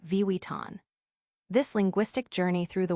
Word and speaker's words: Vuitton: Even the globally recognized Louis View can be tricky with Vuitton being a common error when it should be Vuitton.